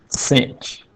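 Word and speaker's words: sinh: using in the full name hyperbolic sign we'll pronounce it cinch like Hefty Hefty C that yall old enough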